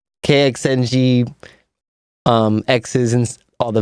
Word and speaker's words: KXNG: I say um kxng. Okay. And I say start with that and then King Solomon, but I say kxng um x's and all the vowels.